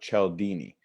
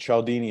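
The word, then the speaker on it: Cialdini: and that's by Robert Chell Dini and she'll Dini is spelled a little funny it's C I a L di n I and I believe actually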